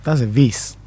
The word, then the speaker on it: vase: When you say vase, you're not actually wrong. Okay. Vase is how the US, the Americans pronounce it. Okay. But the British pronounce it vase. Vase. Okay. So if you're and because we say here, speak a lot of British language. It's vase. Vase. But the Americans say vase.